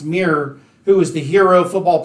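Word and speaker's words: Myre: correct the pronunciation because we were saying meijer and it's not it's pronounced mirror who is the hero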